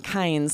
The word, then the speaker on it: kinds: We're saying kinds and it's affecting the vowel a little bit, but we're keeping our tongue in the back of our mouth and we're sort of emphasizing the N more kinds.